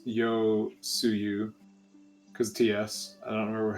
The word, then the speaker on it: Yotsuyu: No, I thought it was Yosetsu, but it's not in front of me, so I can't see it. It's either Yotsuyu? Yotsuyu. Yotsuyu, okay. Yotsuyu, yeah. Or it's Yotsuyu, because TS.